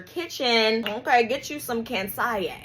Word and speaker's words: Kansiyé: Get you some cans with the accent on the E like Beyonce.